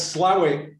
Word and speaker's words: Slaithwaite: Where's Slough? Slaithwaite. No, it's Slough. It's what? So yeah, I had these when they came out. It's spelled Slaithwaite, but they call it Slough.